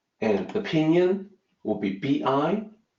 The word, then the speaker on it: 必: this character is B and opinion will be bi B it's not pronounced by a lot of times we look at that